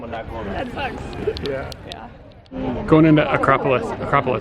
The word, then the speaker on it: Acropolis: morning up at the Acropolis, right? No. Acropolis, there we go. I kept saying it wrong and I'm not very smart.